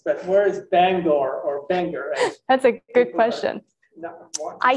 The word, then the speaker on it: Bangor: the lab is and do they say Bangor or Bangor I kind of have picked up Banger I I think that's how they say it I've start I started out saying Bangor but then no one else said that and so just slowly my language has morphed into Banger yeah that's I think